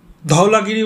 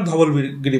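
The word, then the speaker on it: Dhaulagiri: তো প্রথমটার নাম হচ্ছে ধৌলাগিরি বলবেন না ধবলগিরি বলবেন বাংলায় ধবলগিরি হচ্ছে উচ্চারণ করি আমরা কিন্তু এটা ধোলাগিরি ইংলিশে লেখা হয় ধৌলাগিরি অন্নপূর্ণা মাংসালু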